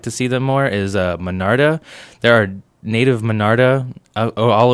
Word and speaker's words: Monarda: Okay, is it Minarda? It's actually, that's probably my being in Texas for a while. It's Monarda, Monard. Let's see, Monard.